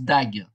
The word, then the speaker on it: dague: vous devez le savoir, ça se prononce dag en français.